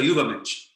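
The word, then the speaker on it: Übermensch: Ubermensch or Ubermensch? Ubermensch. Ubermensch. Ubermensch. Yes. It is variously translated as Overman, Superman, Superhuman. So in the interest of time, I'll just give you one sentence. Ubermensch is the highest culmination of the purest expression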